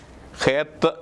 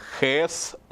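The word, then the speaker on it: Heth: അതിൻ്റെ പേരിതാണ് HTH, ഹേത്ത് എന്ന് എഴുതിയിരിക്കുന്നു. പക്ഷെ നമ്മൾ പ്രൊനൗൺസ് ചെയ്യുന്ന THന് സ് എന്ന ഉച്ചാരണമാണ് ഈസ്റ്റ് സിറിയക്കിൽ വരുന്നത്. അതുകൊണ്ട് ഹേസ് എന്ന് ഉച്ചരിക്കുകയത് ഹേസ് എന്ന് ഉച്ചരിക്കുന്നു.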